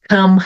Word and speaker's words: come: Come here, let me help you. A palavra come, come. A palavra come, ela termina com E. Eu nunca vou pronunciar esse E no final, mesmo quando ela está isolada.